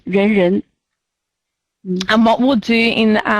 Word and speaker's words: Renren: The other one is Renren, which sounds like people, person. Renren, that makes people, person. Anyway, the pronunciation is Renren.